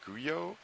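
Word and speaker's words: guyot: up until this morning I believe the correct pronunciation is guyo Geo Geo there we go uh it's spelled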